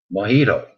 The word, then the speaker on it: mojito: Which country is the origin of the cocktail mojito? What? Mojito. I'll spell it for you. M-O-J-I-T-O. Mojito. Which country is the origin of the cocktail mojito? It's a bit like jalapeno. You don't use the J.